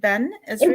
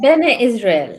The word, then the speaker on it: Bene Israel: Am I even saying it right? Ben Israel? It's Bene Israel.